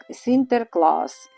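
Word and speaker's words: Sinterklaas: У Голландії ім'я святого Сент-Ніколас стали вимовляти як Сінтерклас.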